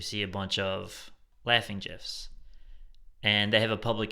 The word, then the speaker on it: GIF: I'm pretty sure it's pronounced GIF. Hey, I heard the person that created the GIF file is pronouncing it GIF, so I'm sticking with that.